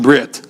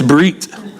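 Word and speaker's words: ברית: The Brit Kaddish, by now it's not Brit, that's from America, okay? It's Brit, Harikyo, spell it B-R-I-Y-T, and then it'll remind you.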